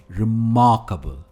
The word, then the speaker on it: remarkable: हम कहते हैं रिमार्केबल। भले ही इसके एंड में एबल हो, हम एबल नहीं कहते, हम कहते हैं अबल।